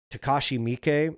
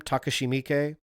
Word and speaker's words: Takashi Miike: That was oh fuck, Takashi Miike, I think is how you pronounce his name. Takashi Miike.